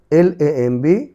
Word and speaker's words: lamb: LAMB, lamb, lamb, lamb. এ পাশে দেখো টির পূর্বে বি, এটি সাইলেন্ট থাকবে।